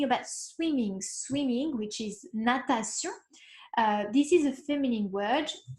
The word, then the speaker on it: natation: Also pronunciation, this is not shun, it's not natation, it's natation. Si-on, sion. Voilà, natation.